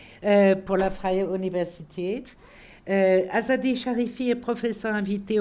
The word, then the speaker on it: Freie Universität: Cette fois-ci, c'est la bonne prononciation pour la Freie Universität.